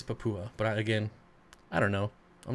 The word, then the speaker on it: Papua: I think it's Papa. Well, I think Gary Lang pronounces it Papua, and he's been there like 1,200 times, so I'm gonna go with that.